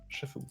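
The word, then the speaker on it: Chef-Haut: Chefeau. De quoi? Chefeau, 2 km de Chefeau. Sérieux? Comme ça se prononce, le chef est en haut. Voilà, Chefeau.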